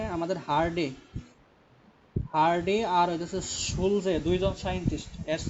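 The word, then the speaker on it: Schulze: বিজ্ঞানী হার্ডি আরেকজন হলো সুলজে ইংরেজিতে যদি উচ্চারণ করা হয় তাহলে হবে সুলজে আর বাংলায় যদি উচ্চারণ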